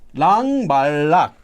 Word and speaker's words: 락 말락: So regardless of whether you use 랑 or 락, when it's used in this construction, it's always still going to be pronounced as 랑 말락 or 랑 말랑.